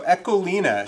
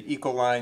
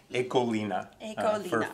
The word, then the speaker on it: Ecoline: in the US say ecoline you'll hear me say that but there is the appropriate and correct pronunciation in Dutch ekolina future reference all right